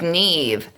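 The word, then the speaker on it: Niamh: but people I swear people have enough trouble with Neve with it rhyming with and being spelled like leave and weave rhymes with Steve imagine if we had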